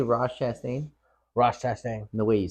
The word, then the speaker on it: Chastain: Ross Chastain.